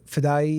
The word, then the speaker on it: Fadaie: My name is Fedai and uh Feday is pronounced like Hawaii.